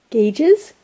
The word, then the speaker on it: gauge: Yeah, I made him some ear gauges. What's it called? Gauges? Gauges? Gauges! Apparently it's pronounced gauge. Gauges. Okay. With rage. Rage, gauge.